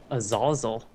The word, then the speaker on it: Azazel: Azazel. Azazel, yes. That's how YouTube told me to pronounce it when I played the button.